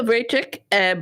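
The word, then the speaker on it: Vrecek: I yes um absolutely breachik but it's spelled v-r-e-c-e-k people uh you can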